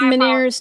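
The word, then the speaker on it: Ménière's: Man, it's miner's disease phonetically.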